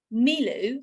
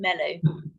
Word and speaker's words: Milu: So I want to introduce you to Lee Rennie from Milu. I've been pronouncing it wrong all of this time, by the way. I've been saying it Melu. Everyone does that, don't worry.